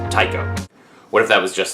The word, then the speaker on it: Tycho: that up until recently I thought it was pronounced Tio but it's not it's pronounced Tao what if that was just like my whole